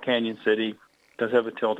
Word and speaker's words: Cañon City: So officially, it should have the tilde over the end to make that the Spanish Y sound, Cañon City.